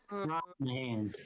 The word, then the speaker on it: Brosnahan: Oh, Rachel Brosnahan, I think is how it's said. Brosnahan. Yes.